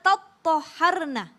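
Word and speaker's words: تطهرن: Itu karena mereka mengikuti bacaan qiraat dari Imam Syu'bah, Hamzah, Kisai, Al-Kisai, kemudian Khalaf yang mengatakan bahwa dibacanya fa'idha tattoharna dengan tasydid.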